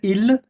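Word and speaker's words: il: के दिखा यहां पर पहले ठीक है इसको प्रोनाउंस करेंगे इल और एल एल एल इल एल हां इल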